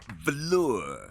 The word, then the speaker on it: Valor: It's pronounced velour.